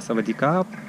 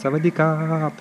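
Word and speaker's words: สวัสดีครับ: А Савадикап — это привет. Здравствуйте, если это говорит мужчина. И они действительно выделяют последнюю букву А. Так что Савадикап. Ты знаешь.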